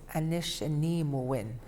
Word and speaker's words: Anishinaabe: And I believe the proper way to say it is Anishinaabe, and that's basically Ojibwe.